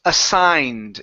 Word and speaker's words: assigned: class okay very nice the sword here is pronounced assigned instead of a saga need ok that G is silent assigned aside ok good